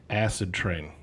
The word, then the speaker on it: Acidtrain: oh oh and anthony it's it's pronounced acid train okay just okay you